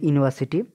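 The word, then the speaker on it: university: C graduated from a ইউনিভার্সিটি এখানে ইউনিভার্সিটি ইউ টা ভায়োল রয়েছে ঠিক আছে কিন্তু উচ্চারণটা কিরকম আসছে ইউ তারপর নিভার্সিটি তাই না তো এখানে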